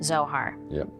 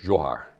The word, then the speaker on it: Zsohar: your name is Zohar but let's get started with explaining that that's not how it's originally pronounced well it's regionally pronounced johar Hungarian pronunciation but we have Americanized it my siblings and I